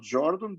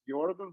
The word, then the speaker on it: Jordan: his jordan algebra algebras that's the right pronunciation by the way of his name not jordan but jordan because he was german but other than that